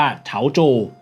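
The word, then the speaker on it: 潮州: ว่า สั้น โถ นะ กับ เมือง แต้ จิ๋ว ที่ จีน กลาง เรียก ว่า เฉาโจ นะ เป็น เมือง ที่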